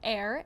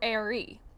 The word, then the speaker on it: Aire: a-i-r-e fans were confused about if it was pronounced like air or Airy an Instagram fan page for Kylie at Kylie's